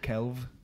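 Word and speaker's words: Celf: Kelf. Kelf. C-E-L-F. It means art in Welsh. Uh-huh. Yeah. Whoa. Kelf. But I think in Welsh you pronounce it Kelv, because uh-huh. F is a V.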